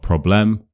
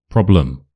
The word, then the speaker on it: problem: It's not problem. problem.